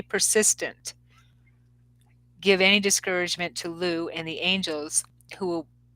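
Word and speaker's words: Lugh: is luge persistence through persist pronounced Lou l-o-o but it's spelled l-u-g-h okay Lou through persistent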